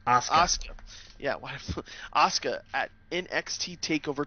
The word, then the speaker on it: Asuka: How do you pronounce her name? Asuka.